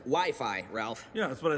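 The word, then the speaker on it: Wi-Fi: cut especially from the less commonly recognized Studios wiffy or wifey it's actually pronounced WiFi Ralph yeah that's what I said all right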